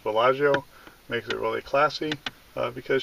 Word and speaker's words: Bella-Geo: and her geocaching name is Bellagio but we pronounce it Bellagio and this is our introductory video for the